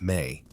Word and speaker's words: me: The Sumerians believed that the divine beings had set forth a crucial cosmic principle known as me, pronounced may.